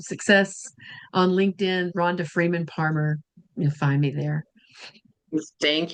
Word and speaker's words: Parmer: Remember, Parmer rhymes with farmer.